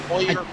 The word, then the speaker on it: Allier: I believe it is Euler. is how it. But Oiler. yeah, it's spelled different, but it's like oil, like Oiler. So I believe when I talked to him. Like the Oilers.